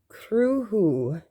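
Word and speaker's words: Cruthú: It's Cruhu is how you pronounce it.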